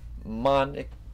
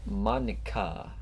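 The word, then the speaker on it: Monika: people because it's writing your name monic Mon and that's not how you say my name at all it's it's Monica also that joke makes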